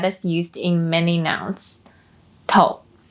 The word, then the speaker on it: 头: 头头头 as a word means head. When used as a suffix, it doesn't carry specific meaning and is pronounced with a neutral tone.